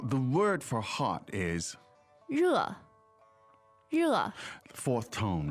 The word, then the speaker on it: 热: 我很热，我很热， Now, the word for hot is 热，热。 fourth tone, right? Yes. And that's spelled in pinyin, it's just spelled R-E, right? But the pronunciation is a little bit trickier than that.